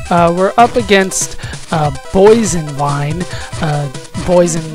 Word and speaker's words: Boison: Boison spelled like poison, but with a B.